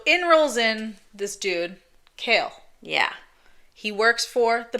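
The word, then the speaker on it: Chaol: So in rolls in this dude, Kale. Yeah. He works for the prince. Now, you may have read it as Cole, like a lot of us. Yeah. But it's Kale. It's Kale. Like the vegetable.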